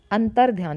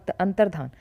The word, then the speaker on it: अंतर्धान: अंतर ध्यान, देखो अंतर ध्यान, ठीक है, ऐसे बोलते हैं अंतर्धान।